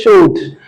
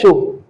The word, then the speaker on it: chaud: on this channel that the last consonants in French are rarely pronounced unless they have a word that follows them that begins with a vowel. So you can't say showed. That pronunciation is wrong.